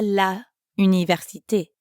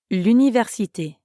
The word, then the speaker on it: l'université: Instead, you said je vais à l'université. Oh yes, we connect la and université to make l'université. This is because université starts with a vowel, U. La université. L'université. That definitely flows much better.